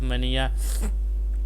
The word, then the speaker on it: mania: It's mania. The A in the first syllable sound like A in may, hey and pay, and if you have